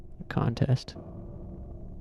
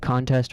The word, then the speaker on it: contest: Like how you stress the word changes its meaning. Contest. Oh, like contest versus contest.